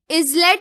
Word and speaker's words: islet: Islet or islet. It is islet. So S is silent letter here.